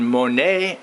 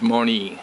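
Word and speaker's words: Monee: home estate here in Monae Illinois the actual pronunciation is mon if you say mon you will be murdered ah don't ask why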